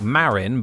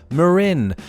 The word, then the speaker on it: Marin: local county names fresh this place whether you're referring to the county or the headlands is not Marian but and I hope you spot the subtle difference Marin believed to have been